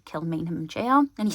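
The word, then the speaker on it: Kilmainham: and to know whether or not you can pronounce it so I cautiously attempted to say kill mham jail and he said oh my goodness You'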